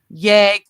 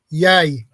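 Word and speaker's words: jeg: else day that it does not pronounced y it's uh pronounced yay yay so you don't say the gig so you guys don't the g in your words are silent y elk ger is that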